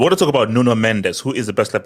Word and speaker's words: Mendes: I I You say, you know, No, it's Mendes. That's how you say in Portuguese. It's not mench or munch or mundish. It's Mendes.